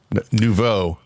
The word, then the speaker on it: Nouveau: No. Nouveau is how you say that.